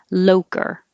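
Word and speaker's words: Loacker: And the American pronunciation, which I had to look up, is Loker. So very different than the Italian pronunciation, I'm sure.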